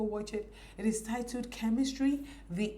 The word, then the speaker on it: Ch3mistry: It is titled Chemistry. The E is spelled as a 3, so it is CH3 mystery. So it is pronounced as the word chemistry.